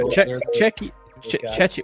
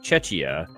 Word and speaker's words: Czechia: Czechia. What is it? Czechia. Well, because they changed the way that they spell and pronounce the name in sports now, so it's like Czechia.